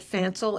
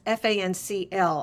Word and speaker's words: Fancl: And in Europe, there's a brand called, I pronounce it Fancel. It's Fancl. I recommend that one because you can actually buy it here.